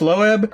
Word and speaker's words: Loeb: series written by Jeph Loeb. Did I pronounce that right? Or is it just Loeb? I've always seen it pronounced as Loeb.